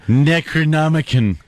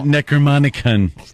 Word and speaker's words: Necronomicon: It pronounced necronomic in Anthony You're necronomicon. Not Necromanican!